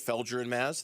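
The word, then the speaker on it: Felger and Mazz: Felure and Maz.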